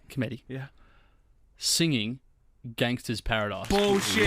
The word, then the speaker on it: Cometti: Cometti.